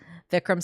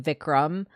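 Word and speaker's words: Vikram: that you're spelling it kind of said more like vicrum uh but spelled with an a instead of a u So yeah thank you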